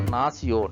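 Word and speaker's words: nación: is C sound so you can see here after the C letter the letter is I so C sound so nasion Nas good next one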